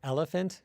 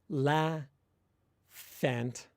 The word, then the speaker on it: elephant: say the word for elephant in English, it's not la fant, it's elephant.